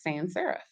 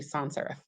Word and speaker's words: sans serif: And what's usually best for web is sans serif, or actually sans serif. I pronounced it incorrectly.